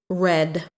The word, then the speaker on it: read: This one is tricky because the past tense is written the same as the present tense, but it is not pronounced the same. The past tense of read is read.